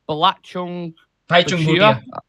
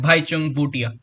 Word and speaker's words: Bhaichung Bhutia: So Sunil Chetri, you got Bhaichung Bhutia. How are you pronouncing it? Bhaichung Bhutia. Bhaichung Bhutia.